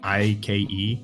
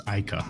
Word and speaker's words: Aika: And if she tries to say, yeah, my name is Aika, they'll spell it like Ike, so they, Ike. She's like, oh, my name's not Ike, it's Aika, right?